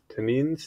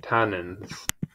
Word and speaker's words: tannin: as tanic acid okay tenin pronunciation please oh that's not oh that's British tannin okay tannins gotcha cool great um tannins vanillin